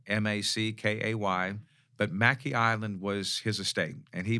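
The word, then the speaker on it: Mackay Island: comes from north carolina and i'm going to pronounce it as mackey island m-a-c-k-a-y but mackey island was his estate and he bought a couple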